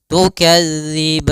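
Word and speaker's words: تُكَذِّبَانِ: Kemudian tukadziban. Di sini ada bacaan mad arid disukun lagi. Yaitu mad yang terjadi di akhir bacaan disebabkan karena kita waqaf dan juga disebabkan karena adanya sukun arid yang ee terjadi karena waqaf.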